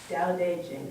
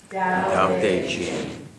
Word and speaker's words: Tao Te Ching: And even though it has T's and C's, it's pronounced Tao Te Ching. Would you say it with me? Tao Te Ching.